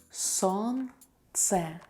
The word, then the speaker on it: солнце: Солнце, солнце, noun sun. We don't pronounce the letter L here.